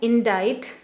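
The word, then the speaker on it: indict: इंडाइट। इंडाइट यहाँ पे ये वर्ब हो गया। इंडाइट का आप देखेंगे इसमें सी एकदम साइलेंट है, सी का कोई भी साउंड यहाँ नहीं आ रहा है।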